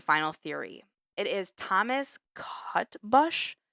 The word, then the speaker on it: Cutbush: It is Thomas Cutbush, Cutbush. I pronounce it cutbush.